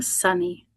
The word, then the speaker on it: Suni: I just want to quickly tell everyone, since I hope to see you in the community, that you pronounce my name Sunny.